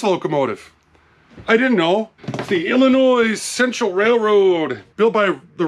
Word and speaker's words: Illinois: for eight months now Illinois Illinois there's no noise in Illinois get it right before